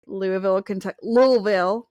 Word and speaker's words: Louisville: the show was actually just last year in Louisville, Kentucky. How you say it like that? Louisville.